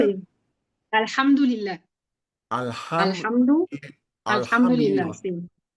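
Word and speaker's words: الحمد لله: Liha, fue lo que ah, me escribió nuestro alhamdulillah, querido Jorge. ¿Qué sí, significa, maestra? alhamdulillah. Pues gracias a Dios. Gracias a Dios. ¿Cómo se pronuncia? Sí, alhamdulillah, Alham, alhamdu, alhamdulillah, Alhamdulillah.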